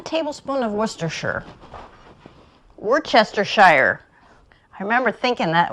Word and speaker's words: Worcestershire: I know that this, even though it's spelled as Worcestershire, I know it's pronounced Worcestershire.